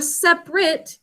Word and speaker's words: separate: Separate, 3 syllables. First syllable is sep, 3 sounds. Basic code. Next syllable is unstressed, but we should think to spell a, sep a. A in an open syllable saying its name. And last syllable is r-a-t, 3 sounds with the silent final e at the end of it.